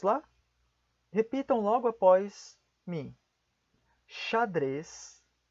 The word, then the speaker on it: xadrez: grande parte das vezes a letra x assim como já está o nome da letra x será pronunciada como ch vejamos primeiramente algumas palavras